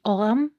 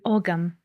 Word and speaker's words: Ogham: In this episode, we will talk about the Ogham in modern Irish pronunciation or Ogham in ancient Irish pronunciation, which is the favorite by scholars and so the one that I'm going to use in this video.